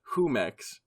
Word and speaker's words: Jumex: jumex Wikipedia page and it says pronounced who Mex it says Jason Jason